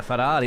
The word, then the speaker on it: Ferrari: The Ferrari, of course, I do it with the Italiano accent.